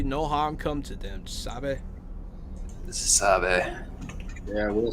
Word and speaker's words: sabe: see ah dammit yeah they do say which i do believe is actually spanish but they don't say it like it's uh yeah i mean it it sounds like it sounds to me like sava which is like it's like the equivalent of like okay oh what is